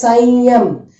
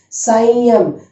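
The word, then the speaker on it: संयम: This is Sanyam. Sanyam.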